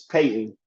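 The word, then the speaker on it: Payton: State fans, screaming for Payne Willis. Uh, I know I just got his name wrong. It's Peyton. I gotta look up his name, man. It's not Payne Willis.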